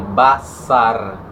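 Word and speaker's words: בשר: no hebraico usa-se o termo basar, que usa o R no final italiano, BA, C cedilha, AR. Por que C cedilha? Para facilitar, Estou falando como se pronuncia.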